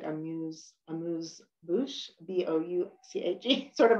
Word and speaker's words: amuse-bouche: There might be a little, I'm not good at pronouncing French whatsoever, but sometimes it's spelled like A-M-U-S-E, like amuse-bouche, B-O-U-C-H-E, sort of like a little bit of a starter, right?